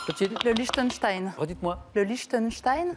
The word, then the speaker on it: Liechtenstein: Le Liechtenstein. Très bien prononcé, c'est le Liechtenstein, c'est très bien.